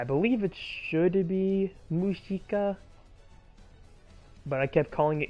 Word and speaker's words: Mushika: Comm preparations for from the Wiki page is pronounced mushika but it writes Musa well that's a weird